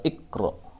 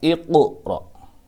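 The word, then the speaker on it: اقْرَأْ: Tidak boleh membaca ikra, tapi harus dipantulkan, yaitu dengan cara baca iqra.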